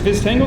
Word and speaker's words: Viztango: Is Viztango the correct way to say it?